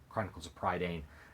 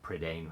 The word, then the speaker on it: Prydain: And if you like those, you could try the Chronicles of Prydain, or Prydain, however you want to pronounce it.